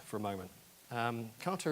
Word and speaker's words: Kata: Kata is pronounced in various different ways. It's a Japanese word. Some people try and make it sound a little more foreign than it is. Kata, actually, I've done some investigation. I'm very cautious about pronunciation in languages that I am not familiar with, but the best that I can get is that actually kata is closer than kata in Japanese.